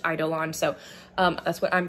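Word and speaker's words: Eidolon: this but based on the Audi book it's pronounced idolon so um that's what I'm going to say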